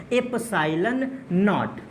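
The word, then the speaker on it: ε₀: कुछ बुक वाले इसको 0 कहते हैं और कुछ बुक वाले नॉट कहते हैं, तो इसको पढ़ते हैं, इसका प्रोनाउंसिएशन है एप्सिलॉन नॉट, ये इसका प्रोनाउंसिएशन है।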